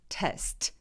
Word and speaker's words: test: test. test. 네, 그래서 트 소리를 내주시는 거예요. test. 그래서 일부러 내주시면 됩니다.